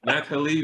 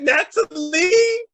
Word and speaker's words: Nathalie: Is it Nathalie or is it just Natalie? That's It is not Natalie. Natalie. The yeah. H is silent just to mess with people.